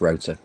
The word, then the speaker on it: Rota: We are live here in Roter Roter. I still don't know the pronunciation of it in Spain. I think it's Rotor. Um, it's Rotor.